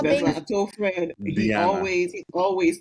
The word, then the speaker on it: Diana: Diana.